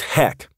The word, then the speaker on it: HEC: energy and cravings or what i call hec pronounced heck dieting causes heck to